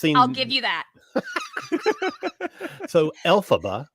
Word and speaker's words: Elphaba: give you that so Elphaba which sounds like you know letters in a row yes alphabet you know yep and